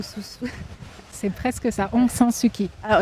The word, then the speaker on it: Aung San Suu Kyi: Alors, précisément, c'est un peu compliqué à prononcer, c'est pas Aung San Suu Kyi ou Aung San Suu... C'est presque ça, Aung San Suu Kyi. Ah, Aung San Suu Kyi, c'est ça.